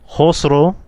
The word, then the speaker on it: Khosrow: The K is silent.